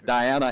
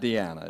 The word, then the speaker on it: Diana: And it's Diana and not Deanna, is that correct?